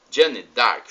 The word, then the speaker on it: Jeanne d'Arc: nós a irmã Jan Dark seu início a pronúncia assim Jeanne Jeanne D'arc Jonathan a Brilhante exegeta Dominicana o que nos